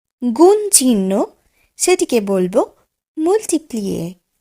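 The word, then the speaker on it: multiplié: গুণ চিহ্ন, সেটিকে বলবো মুলটিপ্লিয়ে মুলটিপ্লিয়ে।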